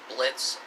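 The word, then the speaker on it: Blitzø: The characters, well, it only just focuses on the characters, like specific characters like Fizzaroli, Blitz, because, you know, the O is silent, and Stolas as well.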